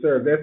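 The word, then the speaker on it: SRVS: And we are pronouncing it SERVES, S-R-V-S.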